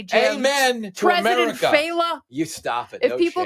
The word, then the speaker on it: Failla: And they also say.